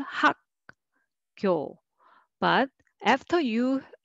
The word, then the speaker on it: 학교: And next is, let's read syllable by syllable, 학교. But after you say 학, uk sound, without pause, it is hard to make soft g sound. You will naturally pronounce it tense. So 학교, 학교, that's natural.